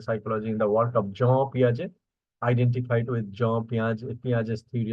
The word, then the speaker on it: Jean Piaget: And here, here you see that is the pronunciation of this Swiss psychologist, Jean Piaget.